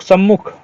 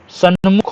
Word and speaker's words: सन्मुख: तरह सन्मुख या सम्मुख बहुत लोग सम्मुख सम्मुख बोलते हैं ना अशुद्ध बोलते हो भाई सन्मुख होता है ना कि सम्मुख ठीक है इनकार कर